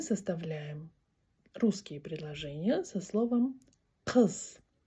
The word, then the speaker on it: Қыз: На казахском оно звучит как кз.